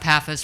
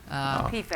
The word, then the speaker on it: PFAS: Concern about PAFAs, forever chemicals. PFAS.